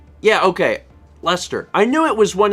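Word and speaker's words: Leicester: a chunk of bread what is that word lie Chester I would pronounce it like uh stirs that lie Chester and some ready-made pie pastry I didn't know if that's like yeah okay Lester I know it was one of those things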